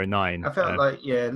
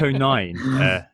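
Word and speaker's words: O'Nien: oh nine going in two footed sorry Luke oh nine he's half asian like me which I enjoyed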